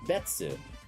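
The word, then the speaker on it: 別: That kanji is pronounced betsu, but that betsu existed before the kanji was assigned.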